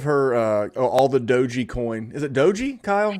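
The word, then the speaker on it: Doge: that's awesome give her uh oh all the doji coin is it doji kyle yeah i like to pronounce it doggy coin because i just like to picture like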